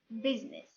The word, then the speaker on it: business: Well, to be honest with you guys, there is no silent I, just in one exception. I will give it as an example. بمعنى ما كاينش silent letter, letter I إلا كلمة واحدة فقط, which is business.